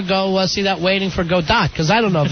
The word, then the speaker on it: Godot: time, but I won't know because I can't pronounce it. All right, so say it again to me. Waiting for a Godet. No, that can't be right. I think I'm saying it wrong. It's Godot.